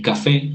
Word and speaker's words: café: Y café aparece en la fe.